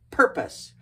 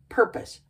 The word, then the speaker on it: purpose: we pronounce it purpose purpose purpose emphasis on the first syllable purpose what's purpose great